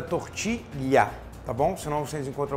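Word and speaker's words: tortilla: um prato espanhol que se escreve tortila com dois L portanto é tortilha tá bom senão vocês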